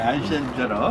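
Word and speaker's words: 愛新覺羅: 네, 아이신저러.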